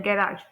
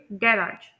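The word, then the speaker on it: garage: है एडवर्टाइजमेंट उसके बाद दूसरा वर्ड है गैराज तो यहां पर ब्रिटिश इंग्लिश में हम इसे प्रोनाउंस करेंगे गैराज like me and American English में हम लोग इसे प्रोनाउंस करेंगे गैराज अब हम इंटोनेशन देखते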